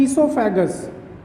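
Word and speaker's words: oesophagus: ठीक ना, माउथ के बाद हमको पढ़ना होता है ईसोफेगस, ध्यान रखिएगा ओ साइलेंट है, ईसोफेगस मीन्स क्या होता है, फूड पाइप।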